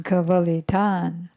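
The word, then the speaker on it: kavalitaṁ: And then kavalitan, swallowed. So it's tad bibanang sam chajivan prakriti kavalitan. Kavalitan. All Kavali. Even the I is short. There's no line over it. Kavali. I as opposed to E.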